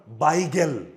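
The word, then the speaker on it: bagel: ই আচ্ছা last option তোমাদের কাছে নতুন ওটার উচ্চারণ বাইগেল বাইগেল বি এ জি এল উচ্চারণ হচ্ছে বাইগেল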